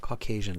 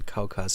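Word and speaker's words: Caucasus: co uh Calas cauas it's not Caucasian cauas how do you spell that it's like cauas like that I think cauas Mountain cauas yeah think like that okay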